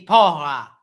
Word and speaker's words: porra: Because if it's Portuguese, it will be porra. I can't do the sound very well, but it's porra.